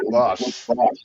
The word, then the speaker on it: Bosch: What did I say it right? Bosch. Yep, you said it right.